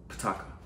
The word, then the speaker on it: Pataakha: How would you pronounce that? Pataakha.